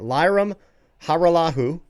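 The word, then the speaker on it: Lirim Hajrullahu: That's right, Lyram Haralahu. So, I'm proud of myself for being able to pronounce that.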